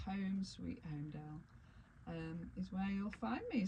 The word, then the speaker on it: Holmedale: me at Home Sweet Holmedale. Now the tricky bit is that Holmedale is spelt Holmedale, Holmedale. It's got an L in it, hasn't so it? it's got a silent L.